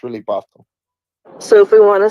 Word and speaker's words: Basel: basil or basil Basel it's really Basel but everybody in America calls it basil so it's Art Basel that's what we call it but it's really Basel so if we want